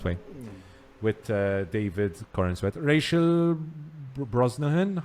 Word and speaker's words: Brosnahan: With David Corenswet, Rachel Brosnahan.